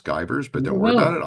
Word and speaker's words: Givarz: but here's my name don't worry about pronouncing my last name it's skyers but don't worry about